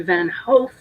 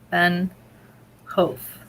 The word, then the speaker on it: Van Hoof: Somebody's helping you with the pronunciation of Van Hoof, which is actually Van Hoof. Oh, thank you. Rhymes with loaf. Van Hoof.